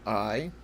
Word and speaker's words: Ai: Uni, your friend was dating a Japanese girl called I, or spelled AI but pronounced I, but he hated it